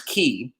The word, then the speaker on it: chi: It's chi.